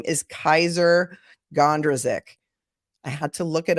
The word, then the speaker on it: Kysre Gondrezick: want to um disparage her by pronouncing her name wrong I did not think that was correct so her name is Kaiser gondrazik beautiful girl apparently Uh Kevin Porter came back